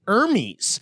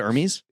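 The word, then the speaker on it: Hermès: by talking about the little influencer trip with Hermes that you and I went on. And I'm like, wait, she calls it Hermes?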